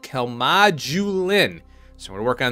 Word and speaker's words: Calmodulin: I looked it up there is a j sound in this particular part here and there is no J that annoys me about